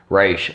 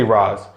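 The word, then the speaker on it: Ra's: oh we forgetting one man teen rachel gould Rach liam that that's the thing - man that's the correct pronunciation your name they call it how they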